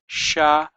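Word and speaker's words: שמים: So it goes sha, mai, and we have a dot here, and that makes this yod sound like an E. So this turns into kind of like a vowel. It's kind of shamai, and the mem, this is another mem just like that, but it's a final mem. So that's an M sound, so it's shamayim.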